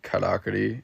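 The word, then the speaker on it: からくり: want to say it kakuri uh in Japan they pronounce it karaki and it means automaton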